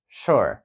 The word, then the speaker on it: sure: слово звичайно sure sure тут є дуже важливою вимова тому що літера ю звучить трішки схожа до нашої у то Тобто ми можемо сказати sure але це неправильно це щось між у та е нашою sure тобто рот більш